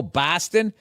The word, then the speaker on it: Boston: from and I'll say Boston and they go oh Boston it's like that's how people from the Midwest say it right so b os becomes b a w b like saw right say job is